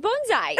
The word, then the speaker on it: bonsai: I'm just impressed that you correctly said bonsai.